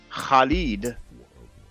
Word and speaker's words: Khalid: And for Arabic speakers, it's the sound that you have in the name Khalid.